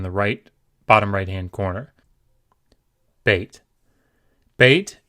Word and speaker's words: Beit: Beit can either be pronounced B, as in boy, or V, as in van, and we'll see the circumstances under which they are pronounced each way momentarily.